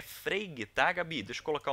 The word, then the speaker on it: Frege: Só que a gente pode ler Frege, né? Só que a pronúncia é Frege, tá?